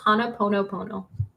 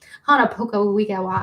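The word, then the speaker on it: Ho'oponopono: would know thank you Ava says it's Hana ponopono Hana Poco that's what I said and I butchered it and that is so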